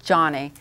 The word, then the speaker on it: Joni: Okay, it is spelled Joni, but it's pronounced Johnny.